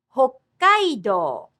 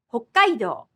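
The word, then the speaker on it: 北海道: 札幌、札幌、北海道、北海道。 Listen to how there is a little pause with the double consonant.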